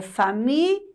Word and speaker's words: família: Mas o correto, gente, é família. Li. L com I. Então, nós temos que prestar muita atenção na pronúncia da palavra para poder escrever corretamente.